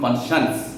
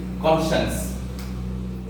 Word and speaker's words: conscience: আবার আর একটা সেন্স আমরা বলতে পারি, শি may also stand for human কনসায়েন্স। আমি একটা শব্দ বলছি, কনসায়েন্স, CONSCIENCE, কনসায়েন্স, নট কনসিয়েন্স। উচ্চারণটা হচ্ছে কনসায়েন্স, কনসায়েন্স মানে বিবেক।